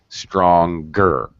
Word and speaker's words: stronger: I say strong, right, the NG sound, but stronger, strongest. Now suddenly I'm pronouncing the G when I pronounce the comparative and the superlative.